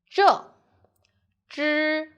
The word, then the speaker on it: 这: In this video, I will teach you how to pronounce it, how to write it, and how to use it. Now, let's read together. 这, 这.